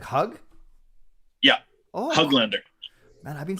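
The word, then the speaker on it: Höglander: to say from you is that the proper pronunciation is it hug lender like hug yeah hug lender man I've been saying it wrong all the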